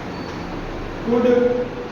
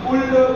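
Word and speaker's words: could: कुड, कुड, शुड, इसमें L silent होता है। हम कुल्ड, कुल्ड, शुल्ड कई विद्यार्थियों को पढ़ते हुए देखे हैं, एल नहीं बोला जाता है, एल साइलेंट है।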